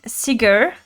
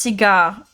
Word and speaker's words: cigar: You were saying cigar. It's pronounced cigar.